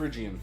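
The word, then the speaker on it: Phrygian: So it was a how would you pronounce a friian? Friian. Okay. I didn't know if the Y was a Y sound or not.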